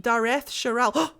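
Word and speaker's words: Dareth Shiral: as you wish dragon darth shiro that is pronounced dareth sherelle arlathan part one give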